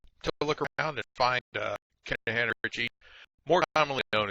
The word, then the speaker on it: Kernighan: We will be using the Kernighan and Ritchie, or Kernighan, I should say, the G is silent, Kernighan and Ritchie C programming language book that you see down there in the right corner of the screen.